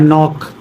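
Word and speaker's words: knock: जैसे देखो नॉलेज लिखा है, नॉलेज, ध्यान देना, एन से पहले के आया तो के साइलेंट है। यहाँ नॉक, एन से पहले के, नो, नीड, नी।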